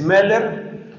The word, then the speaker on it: Moeller: Literatura del siglo XX y Cristianismo es Meller, M-O, se pronuncia O-E, algunos lo escriben Moeller, otros escriben O con diéresis, creo que es Charles Meller, pero no me acuerdo. ¿Sí es Charles? Gracias. Charles Meller, y su obra más conocida es, o la